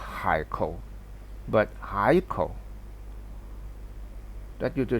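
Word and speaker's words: 海口: a very important here we pronounce a haiko now you see the pronunciation here um Fai now my mouth gonna put here but it's really h a i kou if you pronounce according to this you'll be high call that is very awkward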